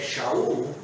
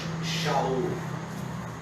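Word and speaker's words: שאול: Seu nome em hebraico, a pronúncia é um pouco diferente, porque nós adaptamos a pronúncia hebraica para a língua portuguesa. Em vez de ser Shaul, nós lemos Saulo ou Saul. Porque em português não tem aquela letra SH.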